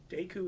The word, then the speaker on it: Deku: guess i'm an idiot deku is how you pronounce it in japanese apparently okay nice to